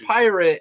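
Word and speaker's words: Pyrat: Period is actually pronounced pirate. It says on the bottle.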